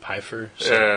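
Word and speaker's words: Pfeifer: Pier will pierer Piper Hillary Barta pronounced it pyer I guess that's how it is I think that's how it actually is pronounced I'm going to trust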